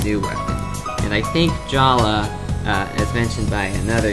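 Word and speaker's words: Jaller: gave him this new weapon and I think Jala uh as mentioned by another user it's Jala not Jer it looks like Jer but it's pronounced Jala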